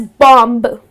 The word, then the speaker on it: bomb: up pronouncing it as Bomb. What’s bomb? Now here the last B goes silent.